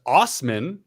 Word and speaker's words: Assman: Assman, pronounced Osman, said he appealed SGI's